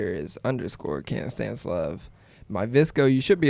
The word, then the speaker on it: KanStanceLove: But if you say it like right, it kind of sounds like Kansas love. It's like KanStanceLove. Oh, okay. Because I was pronouncing it like can't stand love.